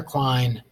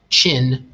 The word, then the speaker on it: Qin: To start off with, this word is pronounced Qin. Not Quinn or Quine, but Qin, like this.